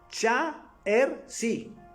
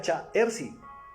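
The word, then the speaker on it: 查尔斯: Yo no sabía que en mandarín se pronunciaba mi nombre Cha-Er-Si, pero se escribe todo raro, con rayas.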